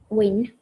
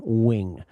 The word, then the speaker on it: wing: Uh wing. Wing. Wing. Careful. It's not win and it's not wing. It's just a little gwing.